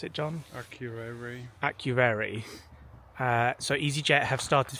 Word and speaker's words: Akureyri: How do you pronounce it, John? Akureyri.